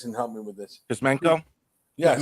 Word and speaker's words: Kuzmenko: I can't pronounce the guy's name. Maybe you guys can help me with this. Kuzmenko? Yes, Kuzmenko.